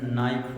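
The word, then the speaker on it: knife: ज्यादा साइलेंट इसी तरह इंग्लिश में बहुत ज्यादा साइलेंट लेटर्स इस्तेमाल होते हैं। मसलन नाइफ एक लफ्ज़ है के एन आई ए के को नहीं पढ़ा जाता है।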